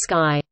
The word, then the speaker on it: Stuvsy: Stuvsy, pronounced as Sky.